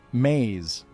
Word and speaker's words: ME: The Samrians called this code the memes pronounced maze.